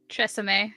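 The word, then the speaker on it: TRESemmé: Though, is Tresemme. I don't know if that's how you pronounce it. It sounds. Yeah, that's right. Tresemme.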